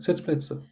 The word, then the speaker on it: Sitzplätze: Say it like like Sitzplätze.